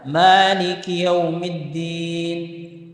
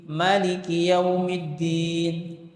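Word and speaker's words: مالك يوم الدين: Maliki Yaumiddin. Maliki Yaumiddin. Tapi tulisan bisa mengakomodir 2 bacaan. Nah, dulu begini. Karena dia 1 harokat berarti Maliki Yaumiddin. Kalau dia baca 2 harokat berarti tambah alif.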